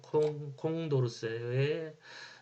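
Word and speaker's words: Condorcet: 이양성이 충족되지 않는 경우를 콘도세의 패러독스라고 불러요 또는 프랑스 발음으로 콩콩도르세의 패러독스 사회선원은 이처럼 intransity b의향적인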